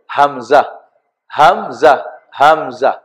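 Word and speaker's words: همزة: আলাদা কোনো অক্ষর আমরা লিখি নাই, তবে এর উচ্চারণটা হবে হামজা, হামজা, হামজা।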